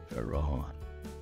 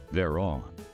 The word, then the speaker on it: Vhaeraun: VHAERAUN. Usually pronounced just VHAERAUN.